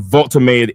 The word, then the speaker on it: Woltemade: Yeah, Chelsea brother with the right pronunciation. Vulttomade is like like water.